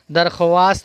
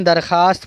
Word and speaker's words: درخواست: دعا کی درخواست ہے، درخواست نہیں پڑھیں گے، درخواست پڑھیں گے۔ محنتی لوگ ہمیشہ خوش